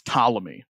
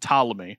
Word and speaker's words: Ptolemy: era were known as Ptolemy PT is how it's spelled Ptolemy um maybe maybe you